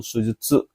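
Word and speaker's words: 手術: Oke, pilihan yang benar adalah ini bacanya kanji yang nomor pilihan keempat minasa yaitu sujudsu.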